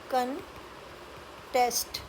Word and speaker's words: contest: और वर्ब जब आता है तो उसकी प्रोनाउंसिएशन बन जाती है कंटेस्ट। तो यहाँ पर स्ट्रेस आती है टेस्ट पर, कंटेस्ट।